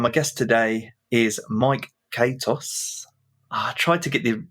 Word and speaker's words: Katos: Yeah, well, actually, it's technically pronounced Katos because I'm Greek, but it's the Americanized version is Katos.